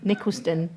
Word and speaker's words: Nicholaston: I first heard of Nicholaston House, or Nicholaston, I think is the right pronunciation, when Helena Wilkinson came to my church, Trinity Church in Cheltenham, and she was talking on eating disorders.